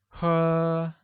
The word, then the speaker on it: 喝: Drink translates to 喝, carrying a high-level tone.